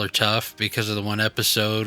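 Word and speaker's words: Toph: It rhymes with tough and it's it's hilarious.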